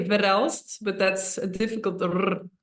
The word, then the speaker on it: Verrelst: conversations we are live on Facebook with barel barst did I pronounce that correctly yeah we say verel but that's a difficult it's something yeah that's